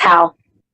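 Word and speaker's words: Hau: Or H-A-U? I don't know how to pronounce his name. Yeah, it's Hal.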